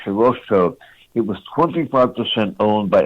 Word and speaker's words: Hirohito: It's pronounced Hirohito.